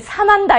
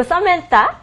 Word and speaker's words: Samantha: 우리 번데기 발음이 들어가니까 조금 어려워서 어떤 어머니들이 사만다 이렇게 불러주시기도 하는데 아니고 Samantha, okay, Samantha, and many people call me as Sam Teacher.